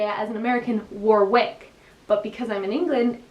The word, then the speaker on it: Warwick: sure there's a city in england called warwick it's spelled w-a-r-w-i-c-k but i would say as an american warwick but because i'm in england it's warwick same